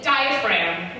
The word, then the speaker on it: diaphragm: so i feel like a diaphragm why would there be a g that's a silent letter they've inserted in for trickery's sake this is just hyperglyphs